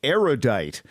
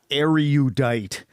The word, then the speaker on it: erudite: surprising number of erudite people mispronounce erudite which has three syllables not four say erudite not aryudite because you are judged